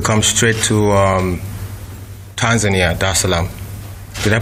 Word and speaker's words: Dar es Salaam: the seventh to come straight to um Tanzania Dar es Salaam did I pronounce that right yeah okay cool Dar es Salaam there's a lamp Okay it's a beautiful uh